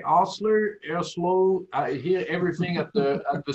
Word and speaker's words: Erbsloh: Sebastian, you're doing pretty good, but it's because of the umlaut, and it's pronounced Erbsloh.